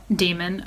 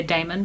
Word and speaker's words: daemon: This one follows an 11-year-old boy and his demon. I always want to say daemon because of how they spell it, but in this world,